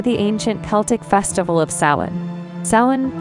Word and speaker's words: Samhain: everchanging Rhythm the Celtic Festival of sin pronounced as Awin a time when the